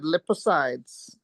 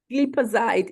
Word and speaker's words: glipizide: You said lipicides. Okay. Glipizide, it's with the GLI, glipizide.